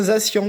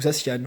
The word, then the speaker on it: Zacian: On a un Zacian qui est ou Zacian, voilà, ça dépend comment on le prononce, à l'anglaise ou au français, qui est extraordinaire, voilà, tenant l'épée en plus, donc il est absolu.